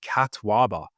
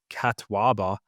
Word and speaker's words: catuaba: So it's a particular herb called catwaba.